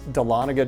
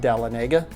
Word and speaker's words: Dahlonega: First, I'd like to give you the proper pronunciation. It's Dahlonega, Georgia, not Dahlonega.